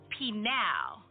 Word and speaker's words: Peniel: That word Peniel means to be face to face with God, or he who strides with God. In Hebrew, that same word Peniel is pronounced Penal.